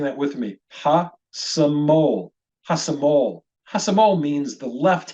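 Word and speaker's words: השמאל: If you try saying that with me, hasamol. Hasamol. Hasamol means the left hand. And unmistakably, we hear in the final syllable, the syllable that gets the stress, the syllable is pronounced mol.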